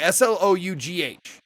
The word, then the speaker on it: Slough: Okay, Slough is pronounced Slough and considered the worst place in England. Okay. But it's pronounced, or it looks like, that's another word, like you slough off something.